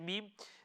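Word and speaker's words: م: you can see that when i pronounce the meme the lips are sealed together okay we don't allow them to disconnect now when i mean to disconnect obviously yes we need to disconnect to move on to the next letter but whilst you are pronouncing the meme it shouldn't disconnect okay that's what that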